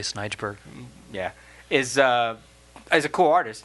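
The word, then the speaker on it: Snejbjerg: is by Peter Snurgeberg.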